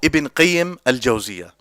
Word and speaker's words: Ibn Qayyim al-Jawziyah: But the correct way to say both names is as simple. Just to put it simply, you can say Ibn al-Qayyim or Ibn Qayyim al-Jawziyah.